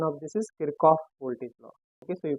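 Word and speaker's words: Kirchhoff: okay and in English we say in English pronunciation of this is kirov voltage law okay so you can say kof's voltage law or K's voltage law okay it's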